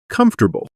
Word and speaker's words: comfortable: If I see the word comfortable written on a page, my brain wants to say every single letter. But native speakers do not say it like that. We just say comfortable.